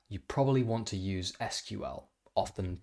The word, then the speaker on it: SQL: to do that you probably want to use sql often pronounced sql sql is the industry standard language for querying